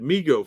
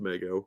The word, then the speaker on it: Mego: 70s and early 80s we had migo figures which i always pronounced mego because it that sounds better but they were six and